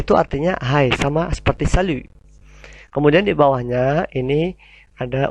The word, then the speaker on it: salut: yang tidak formal, yaitu salut. T-nya hilang ya, huruf konsonan terakhir selalu tidak diucapkan. Bukan salut tapi monyong u-nya. Salut.